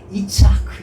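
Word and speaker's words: יצחק: 라고 해라 이렇게 말씀하십니다 여러분 이삭을 요 히브리 원어로 발음하면 어떻게 되냐면 이차크 입니다 위치 하구요 아 어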